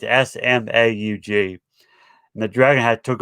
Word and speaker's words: Smaug: But the thing is, a dragon took over named Smudge. I think it's how you pronounce his name. It's Smaug, and the dragon had took over the mountain.